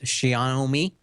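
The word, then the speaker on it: Xiaomi: made a deal with Shia know me and that's how you pronounce it like show me show me and that of course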